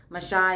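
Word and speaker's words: משה: writings of masha okay masha is the proper way to say moses this is the writings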